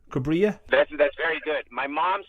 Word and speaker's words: Cubria: Is it Cubria is the right pronunciation? Cubria? That's very good. My mom says Cubria if you want to get very Mexican about it, but you did a good job.